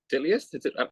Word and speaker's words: Titleist: The shit, bro, it took me forever, like, to learn the proper way of pronouncing Titleist. I was like, Titleist?